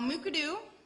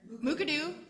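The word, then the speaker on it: Mukurtu: directly out of the mooka do platform now mooka doo let's all say it here mooka doo there you go you'll never pronounce it incorrectly again mooka-doo is a waramongu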